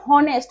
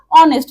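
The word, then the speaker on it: honest: Like আমি যদি এখানে বলি অনেস্ট দেখ এখন এটাকে তো তুমি বলবে না যে অনেস্ট। অনেস্ট কিন্তু বললে উচ্চারণটা আমার ভুল হয়ে যাবে। তাহলে এটাকে আমরা কি বলব? অনেস্ট।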